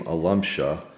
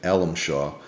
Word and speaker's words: Alamshaw: The Assyrians pronounced the name Alumshah. Mhm. Uh my father during World War II added the W to the name which changed it to more of an American-sounding version, Alamshah.